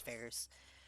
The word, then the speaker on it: Phares: i was like oh it's pronounced ferris like ferris bueller and he's like you're kidding and i'm like no i i'm 110 serious my my name is ferris like ferris bueller um